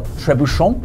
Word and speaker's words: trebuchet: The trebuchet or trebush if you want to use the French pronunciation which is also used in British English is a type of